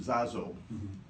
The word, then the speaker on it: Jajo: They pronounce it Zazo.